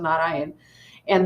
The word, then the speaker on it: Narayana: So it is not Narayanam, it is Na-Ra-Ya-Na. So think, there's four syllables: Na-Ra-Ya-Na.